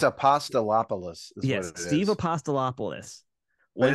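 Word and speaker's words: Apostolopoulos: name of course but we just love to mispronounce it right uh I just don't even try it's a pasta lopolis yes Steve apostolopolis well it's more fun to say Steve apostolapa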